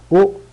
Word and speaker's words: ho: O cenato, tenho jantado. O caminato, tenho caminhado. E o parlato, tenho falado. Sempre o H é mudo, tá? Não tem nenhum som.